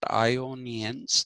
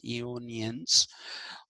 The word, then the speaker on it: Ionians: call them ionians okay not ionians it is ionians because militus was according to